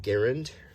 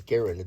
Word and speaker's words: Garand: is an M1 Garand, and before you correct me, that is the pronunciation. It is not Garand, it is Garand. That was at the request of the inventor. That was how his name was pronounced, was like Aaron.